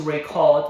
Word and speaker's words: record: I decided to record the meeting, the meeting. Did you hear it? Record. The stress was on the second syllable.